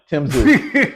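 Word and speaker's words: Tim Tszyu: Sean got it right with the uh Tisu. Is that how you say his name? Uh, Zoo, like Z O, but it's it's you say it like Zoo, but Tim Tim Zoo.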